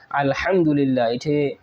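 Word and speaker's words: الحمد لله: মানে অনেকগুলা জগত আলহামদুলিল্লাহ এখানে আপনারা হাটা হাতি অবশ্যই আপনারা এটা ছোট হা উচ্চারণ করলে এখানে অর্থ চেঞ্জ হয়ে যাবে অবশ্যই আপনারা হা উচ্চারণ করবেন আর যদি আপনারা ছোট হা উচ্চারণ করেন তাহলে হয়ে যাবে সমস্ত নিন্দা আল্লাহর জন্য নাউজুবিল্লাহ এটা আমরা শিখে নেব।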